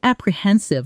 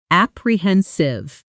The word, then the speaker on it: apprehensive: The stress here lands on the third syllable, and the ending softens the way we've seen again and again today. Apprehensive.